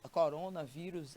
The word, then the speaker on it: coronavírus: Separando, a gente vai poder perceber que a sílaba mais forte, inclusive ela vem acentuada, é a penúltima, né? Nós temos a última sílaba e a penúltima sílaba é aquela que recebe mais intensidade a sua pronúncia. Vem inclusive com um acento agudo, mostrando para você que coronavírus ou vírus é uma palavra paroxítona.